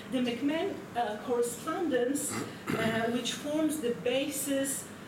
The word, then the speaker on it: McMahon: However, the McMahon, I understand it should be pronounced, the McMahon correspondence, which forms the